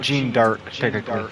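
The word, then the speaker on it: Jeanne d'Arc: chick oh um cuz her name is Joan of art Joan of art but in French it's Well jean jean dark okay now I was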